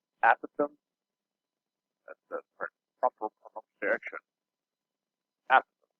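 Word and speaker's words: apothem: it's not an opossum a possum it's actually pronounced a Pithom that's the proper direction after you can say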